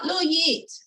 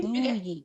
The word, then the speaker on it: Louwi: It's the same Y as in yes.